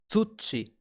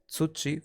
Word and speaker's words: 土: The kun reading for soil, earth, ground is tsuchi, and a good way to memorize tsuchi for earth or ground is too chilly. It's too cold to sit on the ground. Too chilly.